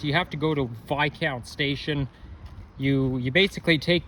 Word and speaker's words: Viscount: now it's not pronounced this counts despite that it has an s in it the S is silent and while I was